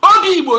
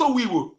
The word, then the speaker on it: Obi Igbo: Obi Igbo, not Owi Igbo.